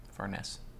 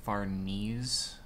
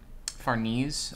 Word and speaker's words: Farnese: And I'm sure I say her name wrong, but still, Furness. Someone wasn't it like Farnese? I say Furness, it's too late now.